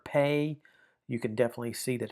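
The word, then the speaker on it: פ: Um, and that's the idea of the letter pay. You can definitely see that it has a P sound to it. Uh, so with the dot, it's the regular P sound.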